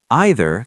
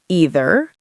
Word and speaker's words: either: Either can be pronounced two ways. Either or either. Both are correct. American English uses both. British English also uses both.